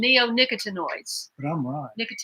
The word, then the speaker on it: neonicotinoids: neo nicotine noise yes neonicotinoids he's right yeah we saying it wrong you're leaving out two syllables now they do call